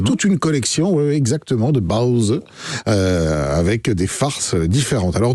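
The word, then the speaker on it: 包子: pains chinois cuits à la vapeur, que l'on prononce donc Baozi, sont des produits qui sont à la mode.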